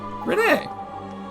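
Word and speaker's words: Renne: There's too many names in this game for me to remember how each and everyone pronounced, but I know it's R-E-N-N-E, which makes me want to say Renee.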